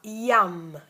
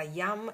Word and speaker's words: Yam: 3 volte il mantra Yam, Yam, Yam. Sai in napoletano Yam bell, ok? Yam, ilunga AM, Yam, Yam, Yam.